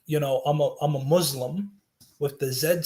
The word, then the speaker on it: Muslim: so like for instance when you say um you know i'm a muslim you're supposed to pronounce it with like an s as opposed to like a zed because that changes the meaning completely sorry if you can't